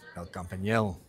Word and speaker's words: El Campinello: El Campinello. El Campinello. That's how you say it.